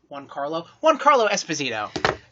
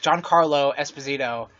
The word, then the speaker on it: Giancarlo Esposito: announced that, oh my god, how do you pronounce that name, babe? Juancarlo Esposito. Giancarlo? Fuck! Giancarlo Esposito is who we're going to be talking about later.